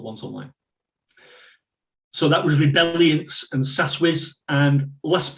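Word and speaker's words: Rebeliance: very popular one james rebellions rebellions or rebel alliance whatever you want to call it rebel r-e-b-e-l-i-a-n-c-e rebellions i think is the pronunciation again from the research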